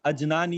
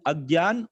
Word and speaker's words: अज्ञान: See, it is not to be pronounced as Ajnan ya Vijnan. It is Agyan or Vigyan.